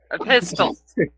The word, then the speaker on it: Epistles: Epistles. Epistle. The T is kind of silent.